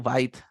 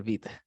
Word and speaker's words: Vite: Entonces uno llega, es Vite o Byte, no sé, debería ser Vite, porque Byte se escribe distinto.